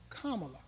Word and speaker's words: Kamala: University now also our vice president is not pronounced Kamala Harris it's pronounced Kamala just FY and she went to uh Howard